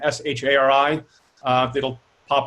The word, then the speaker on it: Shari: up on it uh technically it's pronounced shari but works as well sorry okay that's